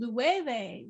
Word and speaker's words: Loewe: And Loewe was next door. That's how you pronounce it.